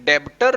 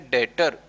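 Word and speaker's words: debtor: Basically ये डेब्टर लगता है लेकिन यहाँ पे बी साइलेंट है तो हम इसको बोलेंगे डेटर, ठीक है।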